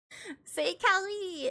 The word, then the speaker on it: Say Callie: Say Callie, it's French. It rhymes with c'est la vie, and I thought it was punny. C'est la vie, it's say Callie.